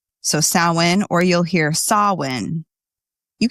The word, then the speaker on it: Samhain: The most common pronunciation you will hear is Samhain, like sow as in like a female pig, and wins. So Samhain, or you'll hear Samhain.